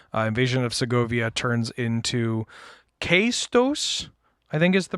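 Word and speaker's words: Caetus: And even after you complete this battle, Invasion of Segovia turns into Kaistos, I think is the pronunciation. Yes. Kaistos, if we're going by...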